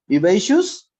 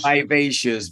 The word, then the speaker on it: vivacious: crazy teacher crazy teacher a vivacious is the pronunciation relations vibacious Valerie vibrant vibrantly fiber vibrantly and